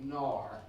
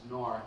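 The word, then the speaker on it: noir: it's called code C nor that's the best way I can pronounce nor n o i r this this law protected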